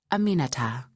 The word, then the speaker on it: Aminata: Aminata, four syllables. It's really not that hard.